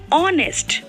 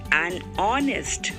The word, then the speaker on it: honest: Hence, we say an honest, an honor, because H is silent in these words.